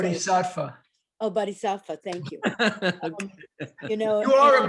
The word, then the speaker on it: Bodhisattva: Oh, Bodhisattva, thank you.